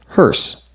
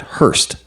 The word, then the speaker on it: hearse: It's pronounced hearse, not Hurst.